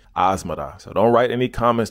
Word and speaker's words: Asmara: those who are wondering that's how I was told to pronounce the city asada so don't write any